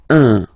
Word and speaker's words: un: without any doubt, but you've got to pronounce it like un. So it's what we call the nasal, so it goes in your nose. Okay, un. So if you listen to me, you don't hear any N.